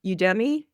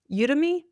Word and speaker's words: Udemy: public speaking course on Udei, Udemy Udei, I always said it wrong, but he had an online course and I was helping him to promote it.